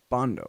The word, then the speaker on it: Bandow: When you pronounce it correctly, it's Bandow, I found out.